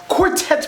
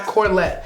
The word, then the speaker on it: quartet: Um, quartets, by the way, not corlette. Unless I'm saying it wrong. No, you said it right.